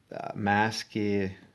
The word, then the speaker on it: Maskirovka: And speaking of which, if you're going to the Ukraine, you might want to know about Maskirovka. I'll spell it because I probably sounding it wrong. MASK, like mask. IROVKA.